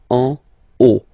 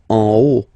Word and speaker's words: en haut: Okay, final T not pronounced, and then this H as previously, you don't pronounce it, so this is haut. En haut. En haut.